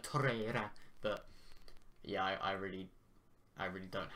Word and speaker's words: Torreira: Apparently it's Torreira, yeah. But like, you meant to roll your tongue for the R, apparently, like Torreira.